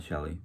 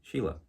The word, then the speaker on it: Sheila: of your names um not shelley sheila sheila and nelly there i try to